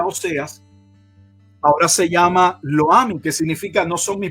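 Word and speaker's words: Lo-ammi: Pasa que como no tiene acento en la última I, es Loami, porque sí, Loami sería si tuviera el acento en la última, por eso lo menciono así, lo pronuncio.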